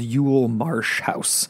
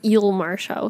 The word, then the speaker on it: Eel Marsh House: But he gets assigned to this place that's called Yule Marsh House. What a name. Or Eel Marsh House.